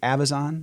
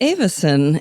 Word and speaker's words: Avison: then what you created did you pronounce it Avison the charter School company it's actually Avison and a that yeah right there sums up why I did it so Avison is a combination of my two daughters names so I